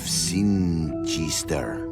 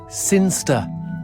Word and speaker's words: Sinister: the boring town of Sinister. Sinister. Sinster. What? It's pronounced Sinster. How do you know? My cousin's from Sinster.